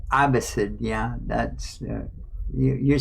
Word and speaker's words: Abbasid: Yeah, I was just saying Abbasid.